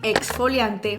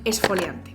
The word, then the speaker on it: exfoliante: La más mayoritaria y la que la RAE hace hincapié que es la más correcta es la pronunciación de KS, es decir, exfoliante, exponer.